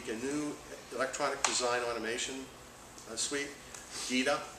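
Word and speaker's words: gEDA: GITA is the way I pronounce it.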